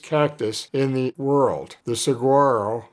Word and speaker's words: Saguaro: to the largest cactus in the world the Saguaro pronounced Saguaro a universal symbol of the American West the